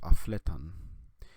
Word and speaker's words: aflet: But here we have an imperative form of the verb afletan. Here we would say aflet, aflet, aflet. All the stress on the second syllable.